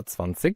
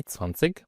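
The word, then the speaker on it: zwanzig: هتبقى هتبقى خد بالك هنا في قاعده لو الاي بعدها جي هتتنطق اش تتنطقفان سش ممكن في العميه الالمانيه كمان نطق تسفانسج يعني انت لو قلت قدام حد الماني تسفانسج ماحدش هيقوللك حاجه بس هي معظم الناس تسفانس زكسون سفانسش مثلا 26 ممتاز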